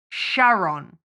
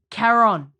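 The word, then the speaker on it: Charon: Quran like a it's it's ch but it's K that's how you pronounce it and the only thing that me in the entire film is that Winston says Sharon like Sharon yeah like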